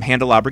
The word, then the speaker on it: Handelabra: hi I'm from handelabra games so that everyone goes oh it's like a calabra with an H so and go ahead